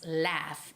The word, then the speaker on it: laugh: when you say laugh it's not it's not love it's laugh with an a sound as if you're saying rabbit laugh laugh so you have to open up your mouth okay to the side wider to make the proper sound for live so everyone